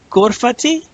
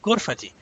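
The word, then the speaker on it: غرفتي: so in this case if you say Gore fatty with the long e sound you're saying my room you see gore fatty but it's good fatty meaning it's just a short I sound good fatty because the preposition makes you say good fatty instead of course I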